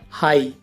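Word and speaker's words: high: नाइट नाइट माने रात और ऐसी एग्जांपल है हाई और थ्रू इन दोनों में वर्ड के लास्ट में जी एच है यह साइलेंट है तो इसे हाई पढ़ेंगे और इसे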